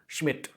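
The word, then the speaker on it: Schmidt: जिनका नाम था ऑटो श्मिट। इसमें डी साइलेंट है, इस वजह से इसका जो प्रोनाउंसिएशन आता है ये श्मिट।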